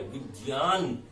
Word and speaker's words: विज्ञान: विज्ञान, जे और ये का संयोग हुआ है, विज्ञान, ये इसका शुद्ध उच्चारण होगा।